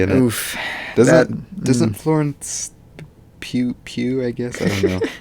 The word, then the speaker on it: Pugh: Pugh? Midsummer Girl. Pugh, yeah, Midsummer Girl.